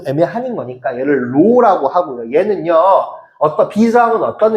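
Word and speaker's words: ρ: 요게 고등학교 때 너네가 만나게 되는 총 끝 마무리인 거거든요.요 기다랗게 생긴요 친구가이 친구를 우리는 읽을 때는 로라고 읽어 이제이 글쓰긴 하는데이 친구를 비항이라고 이야기를 할 거고요.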